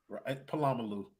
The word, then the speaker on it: Polamalu: He got besides Polamalu, but Polamalu is how you say that.